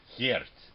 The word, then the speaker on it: Geert: Well, it's pronounced Geert. Geert. Yeah. Closer? Closer. A lot of people have trouble with the G part and the rt, and you have to grow up speaking Flemish or Dutch or Afrikaans to pronounce it.